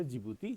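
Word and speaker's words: Djibouti: मुगदीसु इरिटेटरिया Asmara और Ethiopia आदि सबा और जिबूती का जिबूती सिटी। यहां डी साइलेंट हो।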